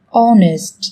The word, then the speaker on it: honest: Trong tiếng Anh cũng có một số từ mà cách viết chúng ta thấy xuất hiện chữ cái h, nhưng khi phát âm thì chúng ta lại không cần phải phát âm âm này, người ta còn gọi là âm h câm.